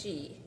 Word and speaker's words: Sidhe: so it's engaging this it's pronounced she but I thought it was like sed.